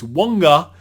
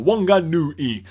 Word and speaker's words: Whanganui: Okay, so someone, Joe, was actually saying that he wants to give us a lesson how to pronounce Whanganui. So it's Whanganui. So here you go, Whanganui.